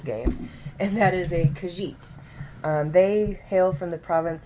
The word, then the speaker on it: Khajiit: first of laurels game and that is a Khajiit they hailed from the province of elsewhere and yes that's how it's pronounced but they are a feline race and